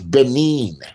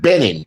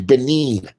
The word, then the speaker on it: Benin: nbk it's Benin it used to be called Dome I've been there before it's part of French West Africa next to Togo it's not Benning you can't even pronounce it right and you said you've done research and studies and videos gotten millions of views how the are you teaching about it it's benine it's benine has has a